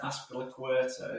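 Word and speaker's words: Azpilicueta: It says that Aspilicueta is a co-owner.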